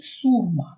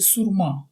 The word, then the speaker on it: сурма: засновником традиції дзвони і сурма чи сурма це слово має подвійний наголос якщо вживається в значенні інструменту це народний дерев'яний духовий інструмент із різким сильним звуком також хочу звернути вашу